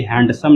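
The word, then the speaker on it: handsome: हैंडसम इसको मत पढ़ना ये हैंडसम नहीं है जो दी है वो साइलेंट है ऐसे पढ़ेंगे हैंडसम भी कुछ हो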